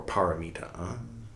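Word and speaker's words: pāramitā: What is polomito, or paramita? This is the Sanskrit pronunciation and means other shore reached.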